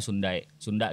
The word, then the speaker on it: Sunda: Karena di peta di geografi itu ada tuh Sindai nulisnya. Sindai. Ya, Sindai, dibacanya Sunda gitu.